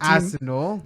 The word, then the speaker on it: Arsenal: Arsenal. Just go to say the team and then Laying emphasis on the first 3 letters.